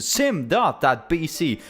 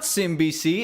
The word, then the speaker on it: sim.bc: Welcome to my channel and welcome to sim.bc. Not simbc, as I've heard some say. Not simbc, not sim.c. It's sim.bc. And yeah, that's totally how you say it, even though some